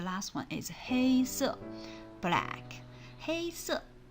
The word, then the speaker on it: 黑色: 黑色 is hey is very easy to pronounce. It's like hey, but it's just first tone.